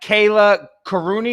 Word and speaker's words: Kallia Kourouni: us from where my guest is is that kayla karuni is that the correct pronunciation yes yes yeah there you go and